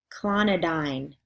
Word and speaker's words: clonidine: email them to me here is week 9 pronunciation words clonidine cozaar digoxin endure all indicate nifedipine nitroglycerin propranolol